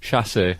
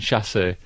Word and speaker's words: chassé: Chassé. I'm saying chassé throughout.